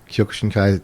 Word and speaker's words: Kyokushinkai: Kyokushin? Yeah, Kyokushinkai.